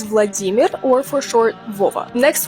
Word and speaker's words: Vladimir: or for short da also Vladimir you may think that sounds familiar because you've probably heard people say Vladimir before the original pronunciation of this name is Vladimir or for short vaa